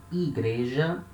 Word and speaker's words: igreja: For example, igreja, it means church.